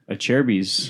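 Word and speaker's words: Acerbis: Achirby's. Achirby's. A like A and a chair. Achirby's. A chair like a chair you sit in, and bees like bees buzz around.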